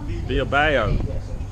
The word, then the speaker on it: Bilbao: Bilbao.